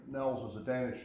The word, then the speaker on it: Niels: is just to go, "Hells bells, it's Nels."